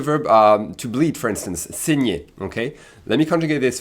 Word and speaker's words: saigne: So we switch in terms of useful pronouns between vous saignez with an i accent aigu sound to il saigne with an i accent grave sound, okay?